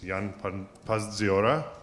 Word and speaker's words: Jan Pazdziora: I hope I pronounce his name right. It's Jan Pazdziora, right?